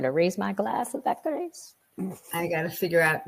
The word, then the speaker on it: Vaccarèse: I think Vaccarèse. It's a little bit of it's a harder Z sound, and it's an ez at the end because there's